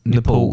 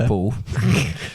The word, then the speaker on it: Nepal: So basically, I'm in order almost to certain you mispronounced Nepal there. Nepal.